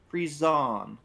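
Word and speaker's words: frisson: say to the dictionary I'm guessing FR yeah I'm guessing frian but uh a sudden strong feeling of excitement or fear it is pronounce fron fron a fron lifts the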